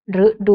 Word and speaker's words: ฤดู: นะ คะ อย่าง เช่น คำ ว่า รึ ดี รึ ไทย ฤดู นะ คะ หรือ คำ ว่า พฤษภาคม นะ คะ พฤศจิกายน เหล่า นี้ ก็ อาจ จะ เลือก เอา มา เป็น กลุ่ม แรก ให้ ให้ เด็ก เรียน ก่อน ก็ ได้ นะ คะ เพราะ ว่า มัน เสียง ตรง กับ รูป ออ นะ คะ ส่วน